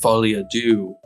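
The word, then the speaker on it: Folie à Deux: I know that was a joke to make do sound rhyme with two, but uh Joker folly do.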